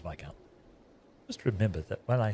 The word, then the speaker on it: Viscount: I think I'm almost positive this is supposed to be Viscount. I don't think the S is pronounced. Pretty sure it's Viscount.